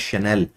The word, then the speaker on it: Chanel: It is pronounced as Chanel.